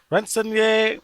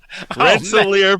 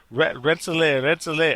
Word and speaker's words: Rensselaer: roll please mark please let me get this pronunciation right renzonia polytechnic institute still jacked it up rensselaer polytechnic now you know why they just go